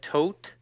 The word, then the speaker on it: Tod: sounds like the jury it's not spelled the same but it sounds the same way as if you say dead toad hmm so yeah it's the German words Tod there's other nice music